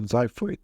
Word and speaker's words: xiphoid: X sometimes pronounced Z, for example, xiphoid, and RH sometimes pronounced R, diarrhea, which is a gastrointestinal disease.